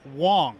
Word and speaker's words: Wang: wong i'm so sorry it's spelled with an a but pronounced like an o but it's good that we tell people this though yes excellent so it's garrett wong yes sir all right